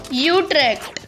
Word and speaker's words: Utrecht: Trek for God's sake how do you say it no it's not bad Utrecht that's it that's the one that's the official pronunciation sorry Netherlands gonna have